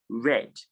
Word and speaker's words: read: for this word father we are observing the verb and the past tense and it is pronounced red and then we have